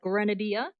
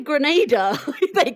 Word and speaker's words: grenadier: I was just going to say Grenada. No. You were going to say Grenadier. It sounded like a country, which I really enjoyed.